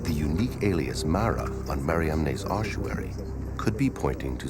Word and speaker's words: Mariamne: the first name in the inscription, the unique Mariamne, never found before or since on any other ossuary? In the Acts of Philip, Mary Magdalene's name is spelled M-A-R-I-A-M-N-E, Mariamne.